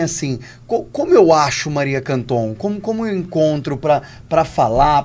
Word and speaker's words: Canton: É muito fácil o meu nome, da forma como se pronuncia. Então, @Ana Maria Canton, com C e N no meio e no final. Canton.